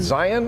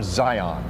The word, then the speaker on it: Zion: with Zion Williamson oh my God is it Zion or Zion um is Zion but when the announcer is saying my name